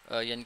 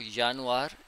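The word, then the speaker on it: Juni: यानी कि हम काउंटिंग वाली साइड पे आ रहे हैं।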